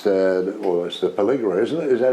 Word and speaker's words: Pelligra: With it's the Pelligra, isn't it? Is that how we pronounce that?